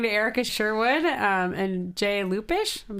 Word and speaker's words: Lupish: We're here talking to Erica Sherwood and Jay Lupish.